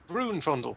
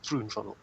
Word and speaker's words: Vroomfondel: Vroomfondel. Oh, should it not be with an R? Vroomfondel. Danny, Vroomfondel. help me out. It's one of the philosophers from It's Hitchhiker's Guide. Vroomfondel.